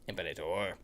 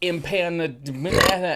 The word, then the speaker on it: Impanator: Impa. I-M-P-A. Impa. Just get rid of the terma and add impa in front of it.